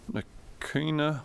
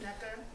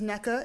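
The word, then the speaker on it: Nneka: Nakina. I pronounce that. Is it NECA? N-N-E-K-A? Yes. Yes. I'm sorry about that. Good afternoon. My name is Neka.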